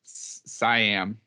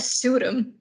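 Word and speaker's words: Suydam: seeing both sides, because when we get to Siam, is it Siam? Am I pronouncing his last name I right? just said Sudum.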